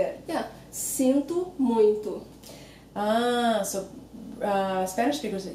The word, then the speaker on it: muito: Yes, exactly, but it's not, in Portuguese it's not muito. Muito. So again, you have that same O sounding like U. It makes it easier when you pronounce it like that.